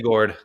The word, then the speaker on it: Gourde: Though we've heard that is it Gjord? How do you say his last name? Yanni Gourde.